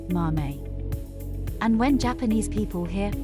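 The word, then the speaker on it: 豆: In Japanese, beans are called mame, and this kanji is pronounced mame.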